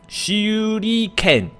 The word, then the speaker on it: Shuriken: 这怎么念啊？Shuriken 哦，Shuriken Rain 就是手里剑雨啊。Shuriken 好，我们现在就学一个 Shuriken。